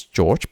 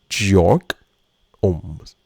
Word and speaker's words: Georg Ohm: So, I thought his name was George, but it was German. So, it's actually Georg Ohms.